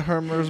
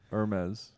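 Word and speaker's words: Hermès: Hermes. Yeah, that's how you got to say it. Some people say Hermes. Hermes. Then you know they're a loser.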